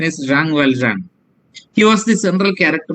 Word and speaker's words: Jean Valjean: Malayalam Jean Valjean എന്നാണ് പറയുന്നത്, but the French pronunciation is Jean Valjean.